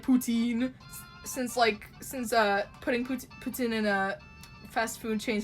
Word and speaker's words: poutine: I've been pronouncing it as like poutine since putting poutine in a fast food chains has been popular, but that's apparently how you pronounce it, poutine.